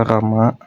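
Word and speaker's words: राम: Jadi, misal kalau nulis kata Rama mereka bakal bacanya jadi RAM. Misal ra, terus ma rama. Walaupun di ee hurufnya Rama, tapi mereka bakal bacanya sebagai ram.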